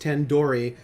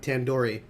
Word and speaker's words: tandoori: now I just realized you pronounced tandoori like a door yep tandoori tandoori tandoori chicken yeah